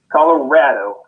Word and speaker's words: Colorado: Colorado, like it's so rad that you're living out here.